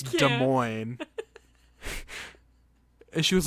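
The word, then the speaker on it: Des Moines: like an easy cross word and she goes Des Moes and I was like what is she Des Moes Iowa and I went it's de Mo and she was like no it's not and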